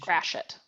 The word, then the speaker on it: Gratiot: And then a question, what is the correct pronunciation of Fort Gratiot? Was it a French Gratiot. settlement at that time? Gratiot. Gratiot.